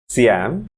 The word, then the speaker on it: Siam: How's it pronounced? Siam, right?